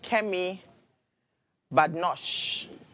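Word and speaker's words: Kemi Badenoch: I'm going to start with Kem Badosh. That's how you pronounce her name.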